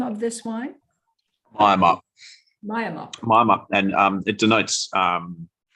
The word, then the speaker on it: Miamup: And Nick, what is, I'm going to mispronounce this, but is it Miamup, the name of this wine? Miamup.